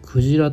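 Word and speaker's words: 鯨: 京都の京でクジラと読みます。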